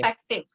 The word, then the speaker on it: perspective: perspective. Perspective. Okay, and you don't even have to pronounce the R sound.